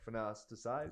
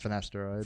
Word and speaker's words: Finasteride: Same with I always pronounce it wrong. Finasteride. Yes. Finasteride.